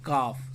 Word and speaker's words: calf: तो गाय के बच्चे को बोलते हैं काफ, CALF, है ना। काफ, इसमें एल जो है एल का उच्चारण नहीं होता है, हम लोग CAF काफ जैसे पढ़ते हैं वो बोलेंगे, लेकिन लिखते समय CALF लिखेंगे।